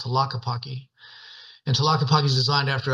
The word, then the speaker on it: Tlaquepaque: Because when I first got there, it's hard to pronounce because when you see it spelled out, Tlaquepaque, yeah. people go, "Yeah, you're at that Taki Paki place," So, but people resonate with it because it's called Yeah.